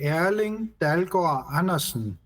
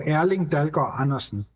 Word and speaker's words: Erling Dalgaard Andersen: Yes, so in Danish we would say Erling Dalgaard Andersen. So the D is very soft and the R is also soft, not like they speak in the Netherlands, for instance, where they are sort of saying, I can't even say it like they do.